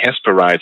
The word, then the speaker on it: Hesperides: I believe it's pronounced that way. Hesperides, it's spelled Hesperides.